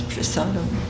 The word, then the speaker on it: prasadam: Sometimes it's pronounced prasad and sometimes prasadam.